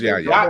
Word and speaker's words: Yahya: And just pull it up and I can probably pronounce it. It's Yahya. I know it's Yahya.